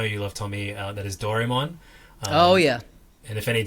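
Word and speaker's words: ドラえもん: that I know you love Tommy that is doron oh yeah and if any Japanese people are listening yes I I'm aware that it's pronounced doraon just is extremely hard to annunciate it like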